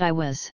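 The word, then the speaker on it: Aiwass: a praetor human intelligence calling itself I was or I was, pronounced I was.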